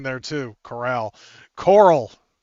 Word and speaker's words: Carl: It's spelled Carl, but it is pronounced Cora Coral. I almost said it wrong there, too. Coral.